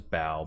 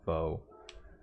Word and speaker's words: Bo: favorites and then um i keep pronouncing his name as bao but i know it's bo uh my switch is